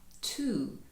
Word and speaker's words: two: Друга частинка цього звуку Tweet to схожа на цифру два. Two. Тож W тут теж не читається.